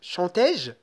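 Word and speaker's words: chanté-je: Alors, lorsque je suis en train de lire, je dois dire chante-je. Donc ça, c'est très lourd au niveau de la prononciation. C'est pour cela on a besoin d'ajouter un accent ici, un accent aigu. Chantais-je? D'accord? Donc un accent aigu. Chantais-je? Chantais-je? Et ça, c'est correct. D'accord?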